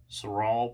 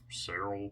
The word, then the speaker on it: Saral: you're probably familiar with saral paper Cyril paper I've heard it pronounced different ways it's this stuff it's